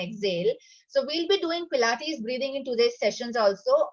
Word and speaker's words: Pilates: This came from Germany, so it's little difficult for Indians to pronounce it. Yes, so but it is Pilates.